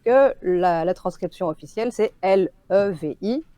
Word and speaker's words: Levi: Donc on est sûr que la transcription officielle, c'est L-E-V-I, donc le prénom Levi à l'anglaise. Je pense que dans l'animé et dans le manga, pour ne pas que les Français le prononcent Lévi, ils ont opté pour une autre transcription.